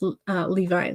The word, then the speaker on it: Levi: Okay, so pronounce Levi like the jeans.